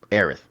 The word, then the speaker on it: Aerith: guy better up her name Aerith yeah you said it right honestly in light